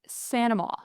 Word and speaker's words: St. Amant: Pronounce your last name for me. Sure. Sanama.